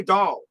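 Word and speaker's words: Daal: Dahl is pronounced like Dahl.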